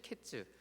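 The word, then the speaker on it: קֵץ: 주신 겁니다 여기서 이제 여름 과일이라는 말은 히브리어로 카이츠 아고 말합니다 카이츠이 카이츠 말과 끝이라는 말 의미를 가진 히브리어 캐츠의 모양과 발음이 비슷합니다 어 위에 나오죠 우리 카이츠 케츠 어 이게 뭐 무슨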